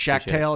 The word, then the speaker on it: Schachtel: to shout out your twitter uh it's jordan shakhtal yeah yeah thanks shaq tail is how you pronounce it correct thanks man thanks for coming